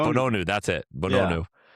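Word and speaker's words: Bounou: Bonu. Bonu. Bonu. That's it. Bonu.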